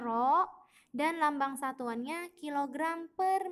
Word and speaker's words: rho: Ini lambang besaran turunannya dibacanya rho. Hurufnya memang seperti P tapi dia beda. Ini dibacanya rho dan lambang satuannya kilogram per meter kubik.